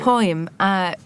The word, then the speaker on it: Purim: I mean, events, so for example, I'm going to mispronounce it, but Purim? But I never can say It's okay. Purim.